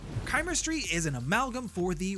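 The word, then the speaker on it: Chimerstry: is chemistry now I would forgive you for pronouncing it chemistry because that's how I wanted to read it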